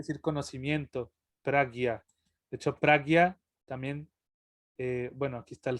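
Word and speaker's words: prājña: cuando se conjuga con la J, se pronuncia como gui, pragya.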